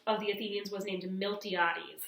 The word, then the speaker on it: Miltiades: The general of the Athenians was named Miltiades. So if you saw this name in your reading, it's Miltiades.